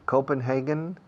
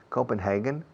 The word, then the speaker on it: Copenhagen: It's either Copenhagen, con N al final, Copenhagen or Stockholm.